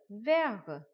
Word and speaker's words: verts: The last letter T we will not pronounce. Elle a des yeux verts.